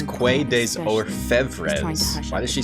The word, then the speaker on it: Quai des Orfèvres: It's not Quai des Orfèvres, it's Quai des Orfèvres. Yeah, I'm trying to stream Wizardry at night now.